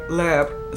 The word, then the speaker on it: Libre: believe it's new to we call it YSL Libre, but when I saw the commercial, it said Leb. So that's how they say it.